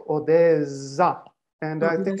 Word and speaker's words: Odessa: the other languages and when you take the word of odessa then it's with two s in russian with one s in ukrainian now if you write it in german with one s we are obliged to pronounce it like odessa and i think it's